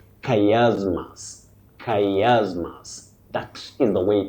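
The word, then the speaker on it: chiasmus: Oh, a very tricky word in pronunciation from Greek. Now you say kayasmas. Kayasmas. That is the way to pronounce that word. Many people innocently say chasmas.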